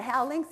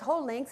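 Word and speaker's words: hou links: laughing she said Judy that's not how links it's whole links and that's not where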